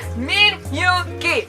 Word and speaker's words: Min Yoongi: Min Yoongi. 3 syllables. Min Yoongi. I always call him Min Yoongi.